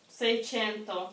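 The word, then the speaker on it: seicento: Сейсенто? Но, не так произносится. Сей? Сейченто. Сейченто?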